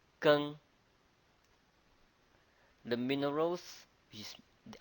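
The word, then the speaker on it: 庚: The iron is pronounced as Geng. Geng.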